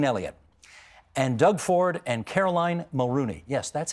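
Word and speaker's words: Caroline Mulroney: Can I thank Tanya Granick-Allen and Christine Elliott and Doug Ford and Caroline Mulrooney. Yes, that's how it's pronounced, everybody. Caroline Mulrooney.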